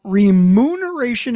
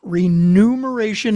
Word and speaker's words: remuneration: are number one, remuneration is correct. Rememberation is the wrong pronunciation and the wrong spelling.